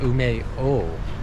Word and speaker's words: Umeå: because there's like an A with a circle on top, and it's like a random, not random I guess, but it's a character that we don't have in our languages, but it's Umeo. It's pronounced O.